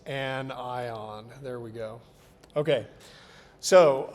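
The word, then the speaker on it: anion: And again, you don't pronounce that like onion. It's not onion. It's an ion.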